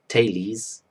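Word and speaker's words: Thales: two Greeks my name's of tales pronounced talese living in the sixth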